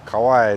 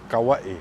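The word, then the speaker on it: Kauaʻi: Elementary or Kapa'a High School, we all said Kauai, that's why. But that's not why. We don't know that's why. We've been pronouncing the word however we like, but the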